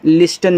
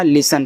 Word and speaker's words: listen: ठीक, LISTEN इसको पढ़ते हैं लिसन। लिस्टन मत पढ़ना, लिसन पढ़ना।